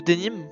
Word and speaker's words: denim: Je l'ai Le aucune Dénin. Ça se prononce pas comme ça, mais c'est une bonne réponse. Je crois que c'est le denim, parce que ça vient de Nîmes en fait.